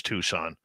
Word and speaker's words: Tucson: Yes, I know it's Tucson. I like pronouncing the C.